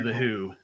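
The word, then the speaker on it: The Hu: Everyone needs to listen to The Who, and that's spelled H-U, not the old classic rock band.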